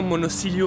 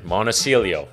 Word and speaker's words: Monosilio: do you remember luciano monocillio from my pasta series the italian chef super talented again monocelio that's how it's supposed to be pronounced my bad literally opened my eyes